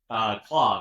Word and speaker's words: Claude: Secondary, one of the most popular ones, we have Claude, or Cloud, depending on how you say it.